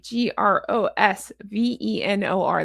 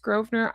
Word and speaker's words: Grosvenor: When I went to London I didn't know it was pronounced Grosvenor. I thought it was Grosvenor. Because there's a whole beautiful area in London called Grosvenor and I asked the taxi